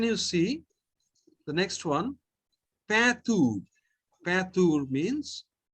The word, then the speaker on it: peinture: Don't think like English. It is a different language. It is peinture. Patur. Very good.